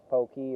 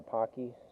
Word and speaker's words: Pocky: japan for two years i still don't know which is the correct pronunciation because both pokey and pocky uh can work in japanese is that a what's